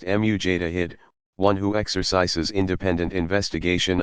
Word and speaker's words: Mujtahid: Pronounced Mujtahid, one who exercises independent investigation of the sacred sources.